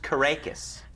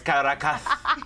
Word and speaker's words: Caracas: It's pronounced Caracas. Caracas, Yes. yeah. I just wanted you to know. It's actually Or- Caracas. No, it's Caracas. You have to do that with the S.